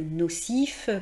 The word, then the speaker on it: nocif: Et puis dans la colonne F, par exemple, tous les mots où il y a le F qui est prononcé dans des adjectifs, par exemple nocif, craintif, infinitif. eh bien, vous le noterez